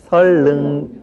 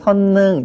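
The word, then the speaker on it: 선릉: 그런데 일반적으로 우리가 선능 자 이렇게 또 많이 발음을 합니다. 우리말에 그 지난번 맞춤법 시간에 우리가 공부를 했는데 우리말에서는 니은과 리을이 연결되는 것은 아주 꺼려한다라고 말씀을 드렸어요. 그래서 니은과 리을이 연결될 때는 니은을 리을로 바꿔서 발음하는 것이 아주 일반적인 발음 현상입니다.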